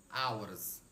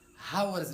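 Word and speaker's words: hours: I will have been working for टू आवर्स। ये जो word है ना ये हावर्स नहीं है। ये एच जो है यह साइलेंट है। इसकी आवाज नहीं आनी चाहिए।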